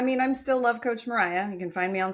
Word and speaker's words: Mariya: I mean, I'm still love coach Mariah.